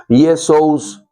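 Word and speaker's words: Ἰησοῦς: Y ambos se pronuncian casi igual. El griego Yesous, en latín Yesus.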